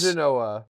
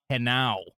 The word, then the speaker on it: Henao: Genoa. I did it. Whoa, it's not how you Is pronounce it. Angel? Yeah, hold on. It is Angel Henao.